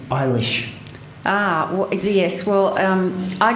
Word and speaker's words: Eilis: it, I was just going Ellis, Ellis, Ellis, because it seemed to be the easiest way of doing it. And in fact, if I slip into that today, I apologise. It's not the right pronunciation.